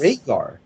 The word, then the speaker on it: Rhaegar: take out the V and change it to an R. Add an E after the A, and you have Rhaegar, right? Yes. It's Rhaegar. And So- it's pronounced as Rhaegar with an A, as in that has the AE and is Like Rhaegar.